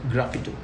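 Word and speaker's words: sgraffito: is known as erasing Graphato method. We call it erasing Graphato method. Okay, this method. S is silent here, so we call it Graphato.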